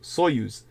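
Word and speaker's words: Союз: Russian term for Union uh soyuz sojuz pronounced soyuz like what you heard about the uh space uh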